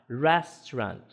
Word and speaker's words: restaurant: Então aquilo ali é um indicativo que aquela primeira ali é a sílaba tônica, tá? Então a sílaba tônica, quando se trata de som, de como é grafado o som, eh, dessa palavra, a sílaba tônica, ela vai vir marcado dessa forma, tá?